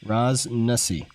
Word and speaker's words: Ras Nsi: Sorry, Ras Nasi. Nasi. Okay, that's how you pronounce it.